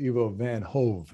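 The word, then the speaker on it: Ivo van Hove: and it's i want to make sure i pronounce this uh correctly evo van hove is that right evo evo van hold for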